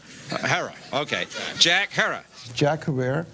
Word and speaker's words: Herer: Have I pronounced it correctly, Jack? Herrera. Herrera.